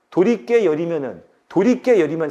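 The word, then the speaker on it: 도리깻열: 도리깨 열이면 사이시옷 안 붙었겠지? 지금 이 문제는 얘가 사이시옷 붙는 게 맞춤법에 올바르냐 아니냐를 물어본 게 아니라 얘가 이 사례에 맞냐 아니냐를 물어본 거잖아. 그러니까 얘네 표준 발음은 도리깨열.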